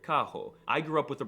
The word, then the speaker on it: carro: The R is very often pronounced as an H, like in the word carro.